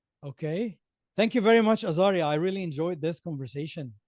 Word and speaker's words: Azgari: Okay, so it's AZG, which is silent, but it's still written, guys. ARI. Correct. Okay. Thank you very much, Azari.